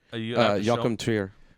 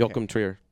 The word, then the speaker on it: Joachim Trier: Joachim Trier. Well, I can't. My handwriting. Well, Alex got it. Okay. Joachim Trier.